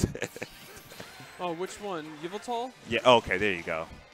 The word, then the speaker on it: Yveltal: I just don't know how to pronounce it. Oh, which one? Yveltal?